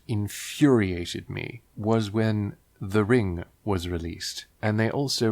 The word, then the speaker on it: Ring: Even in Japanese, if you were to pronounce it fairly accented, it would be ring. There is no ringu, it's ring.